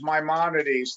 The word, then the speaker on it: Maimonides: Yes, correct pronunciation is Maimonides.